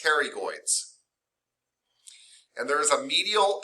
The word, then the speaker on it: pterygoids: looks like they're spelled potterygoid but they are pronounced the p is silent they are pronounced pterygoids and there is a